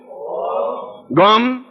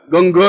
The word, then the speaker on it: गं: बोलिए ओम गम। अब देखिए मैं म बोला है, गंग नहीं बोला है, गंग नहीं बोलना है, गम बोलना है।